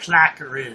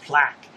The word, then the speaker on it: plaque: I don't know what the hell a placker is. A placker. You mean a plaque? There's no ER on the end of it. Just plaque. And what the hell alleged?